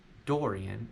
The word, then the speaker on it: Dorian: them but both of them sound very different Dorian is more of an all all door like